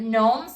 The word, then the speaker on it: gnomes: They're spelled G-N-O-M-E-S. So it's not gnomes, right? The G is silent.